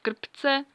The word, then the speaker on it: krpce: check they are called kryptz because good luck pronouncing that because czech has a syllable syllabic r so it's actually two syllable scripts and they are